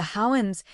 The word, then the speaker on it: Houyhnhnms: Gulliver arrives in a land ruled by horses, the Houyhnhnms, pronounced almost like a whinny, calm and rational and